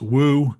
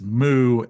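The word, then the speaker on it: 無: And the and then the response is actually in Chinese it's woo. In Japanese it's moo.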